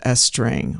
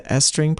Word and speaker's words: Estring: Let's start with estring which provides a lowd dose delivery. Estring, which is spelled E S T R I N G,